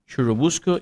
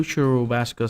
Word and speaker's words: Churubusco: on his farm near Churubusco, Indiana. Well, can you pronounce that? I don't know. It sounds like churro. Churubusco. Sounds like churrasco. It's like a piece of meat.